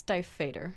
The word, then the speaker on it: Stiefvater: I think it's Stiefvater.